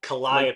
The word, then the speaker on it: Calliope: It's Calliope. Calliope, but I called her Callie. Like Calliope. Penelope.